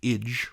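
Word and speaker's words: -age: Age, in English pronounced ige, right?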